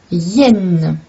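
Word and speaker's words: hyène: le gorille est magnifique la Yenne donc h y se prononce i une Yenne et ensuite le Roi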